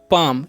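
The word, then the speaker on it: palm: हम पढ़ेंगे गड और पी ए एल एम है तो क्या प पाम यहां पर एल जो है साइलेंट रहता है ठीक है तो इसका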